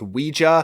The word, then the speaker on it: Ouija: comments correcting me that it's actually pronounced Ouija. I've actually done the deep dive research into this to figure out what's true, and actually they're both acceptable pronunciations, but Ouija is much more common.